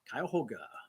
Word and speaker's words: Cuyahoga: Tell us how to pronounce Cuyahoga. Cuyahoga.